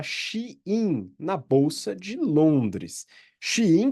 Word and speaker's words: Shein: na bolsa de Londres xin que é o nome a Aparentemente a pronúncia correta da que que algumas pessoas cham de shan empresa de fast Fashion